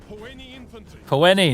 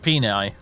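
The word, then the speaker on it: Poeni: all oh any infantry that's how you pronounce it huh puene not not penie all right good to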